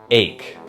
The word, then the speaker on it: ache: This word is pronounced ache. Just like the word make, but without the M. Make, make, make. Ache, ache, ache.